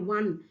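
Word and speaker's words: one: एन मत लगा दीजिएगा आपको उसका प्रोनाउंस देखना है वन वन जब आप बोलते हैं तो यह साउंड निकलता है w1 राइट तो डब् क्या है डब्लू तो कॉन्सोनेंट है कॉन्सोनेंट है तो इसके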